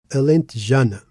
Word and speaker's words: alentejana: Now look at alent janna. It's a five syllable word and we put the stress in ja. Why? because that's the penultimate syllable, the one before last, and there's no accent on the word.